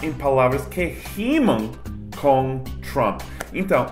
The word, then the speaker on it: Trump: A forma mais básica é de pronunciar Trump terminando com a boca fechada. Então, não Trump, não Trump, mas Trump.